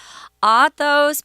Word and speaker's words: Athos: This Athos, Porthos, and Aramis is actually how you say it in French, but we're just going to go with more of an English pronunciation for these guys' names.